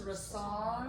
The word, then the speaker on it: Rassard: So very excited to announce that Rassert, the French pronunciation I learned Rassard. is Rassard. Rassard.